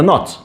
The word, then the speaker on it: knot: and o t not the k is silent okay not k naught to sign okay so the the word in arabic from the word which is the knot what distinguishes the knot